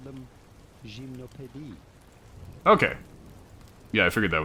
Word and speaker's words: Gymnopédie: But it'd be fine in English to call them Gymnopédie.